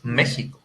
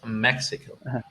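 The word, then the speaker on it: México: like mexico you know the the correct pronunciation it's mexico but you would hear it in english as mexico i'm from mexico actually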